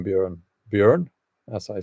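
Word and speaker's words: Bjørn: How do you pronounce the name Bjorn? Bjorn, as I said now.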